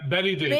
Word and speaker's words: Bette Davis: and John Cena and Bette Davis. Is that how you say it? Betty Davis. Betty, yeah.